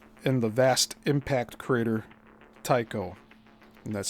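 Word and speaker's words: Tycho: like the wide variety of objects together making the so-called village in the vast impact crater Tao. And that's spelled T Y C H O.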